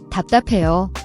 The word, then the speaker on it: 답답해: The dap has a final P sound that is unreleased, meaning you close your lips but don't release the air. It's a very subtle P.